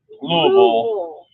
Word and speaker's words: Louisville: You say it wrong. Louisville.